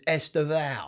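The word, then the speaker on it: Estevão: Estevao, is that the officially that's how you sanctioned that's how you pronunciation? pronounce it. Yeah. All the Chelsea fans I've spoken to have been referring to him as Estevao.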